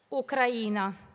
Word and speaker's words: Ucraina: del mio paese natale, Ucraina. L'accento giusto sulla I.